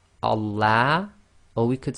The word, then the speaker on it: Allah: So be very careful. It's Allah.